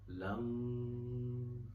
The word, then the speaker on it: Lang: So how do you pronounce it? Lam. It's Lang. L-A-N-G-G-G. So that's how you stretch the sound of J or G. Lang. You can chant the mantra Lang to balance the energies of the root chakra.